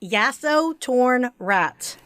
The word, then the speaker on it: Yasotornrat: because i i want to make sure i pronounce right oh no you're fine it's yaso torn rat yes it turned rad yeah well and don't